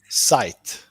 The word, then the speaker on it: Zeit: Zeit. Zeit. Zeit. There you go. Okay. We got shite. Rhymes with shite.